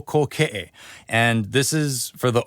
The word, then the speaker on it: Kōkeʻe: O Kōkeʻe, you kind of roll into the o sound. O Kōkeʻe.